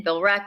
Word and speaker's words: Billerica: And why is there a silent E in Billerica? It's so confusing. Billerica. I can't. You change the pronunciation every time you say it. Sometimes it could be Billerica. Some people say it Billerica, but it's just Billerica.